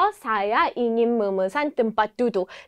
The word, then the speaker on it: tempat duduk: " 좌석 " 이라는 단어 를 어떻게 발음 하나 요 ? ' 템 팟 두둑 ' 으로 표현 된다 . 우리 모두 함께 외쳐 봅시다 . Saya ingin pesan tempat duduk .